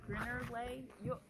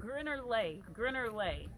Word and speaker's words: Geierlay: It's Lay, not Lake. Lake.